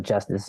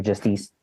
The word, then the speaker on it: Justice: Like there's a musical act, Justice or Justice, as the French recently taught me it was actually pronounced.